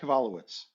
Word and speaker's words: Kevalowicz: that's pretty good colin so think uh kibbles and bits okay so kevalowicz so grading look at